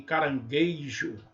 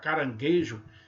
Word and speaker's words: caranguejo: Acrescenta um I em caranguejo. Né? Em vez de pronunciar caranguejo, pronunciamos caranguejo. Vaquejada, não, vaquejada.